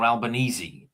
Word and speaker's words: Albanese: how do you pronounce is it Albanese or Albanesei? This is what Alban Albanesei. It's Italian.